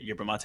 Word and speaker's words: yerba mate: Yeah, first off, like I'm so glad you pronounced it Yerba Mate.